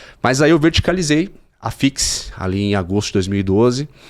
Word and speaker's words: FEAX: Fix é escrito com F E A X, né? E a pronúncia, tá aí, tá no rodapé aí, tá aí o nome da empresa. Pronúncia Fix.